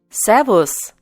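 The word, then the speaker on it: Servus: In this case, S takes the pronunciation Z. Savos.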